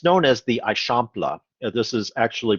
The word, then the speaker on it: Eixample: by ildefonso serda and it's known as the aishampla this is actually pronounced uh i shampla versus i example or anything like that so if you're trying